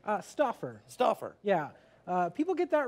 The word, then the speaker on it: Stauffer: Stauffer.